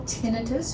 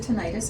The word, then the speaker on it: tinnitus: Okay, so just to share with the audience some information, about 80% of the population gets what we call tinnitus, or you can pronounce it tinnitus, it doesn't matter, from time to time.